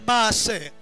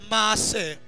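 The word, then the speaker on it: מעשר: Le mot dîme, en hébreu, c'est maaser. Maaser.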